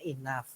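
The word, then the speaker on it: enough: ya ada yang tulisannya I know Tapi bacanya Inaf ya kayak tadi Who dibacanya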